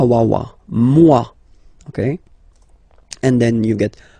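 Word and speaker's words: moi: So remember this o e combination gives you the sound waw wa mua.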